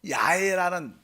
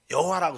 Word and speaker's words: 야훼: 그러니까 뭐 이렇게 성경 언어적으로 연구를 하면 보통 야훼라는 발음이 더 정확하다고 말합니다. 야훼라는 발음이. 그래서 여기 보니까 워낙 하나님의 이름을 잘 안 불러 보니까 그냥 주님 이렇게 부르다 보니까 이 하나님의 이름을 이렇게 발음을 잘 안 해 보니까 이 보통 여호와라고 썼지만 사실 실제로는 야훼 이 발음이 더 정확할 것이다 이렇게 그냥 성경 학자들이